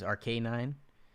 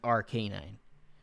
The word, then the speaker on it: Arcanine: that i change it arc arc a9 or arcanine arc arc a9 yeah i feel like that's right rk9 because it's a k9 it's an rk9 it's not a canine